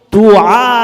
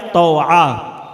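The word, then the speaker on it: طوعہ: بیٹھی تھی دروازے پر، اس کا نام روایتوں میں توعا آتا ہے یا توعا، دونوں تلفظ سے پڑھا جا سکتا ہے، توعا نام ہے اس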